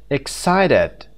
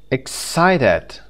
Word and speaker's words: excited: syllable some number five excited excited the second syllable cited site side excited can you understand this